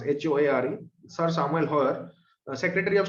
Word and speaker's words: Hoare: Sir Samuel Hoare how you are going to pronounce HOARE Sir Samuel Hoare Secretary of State thile India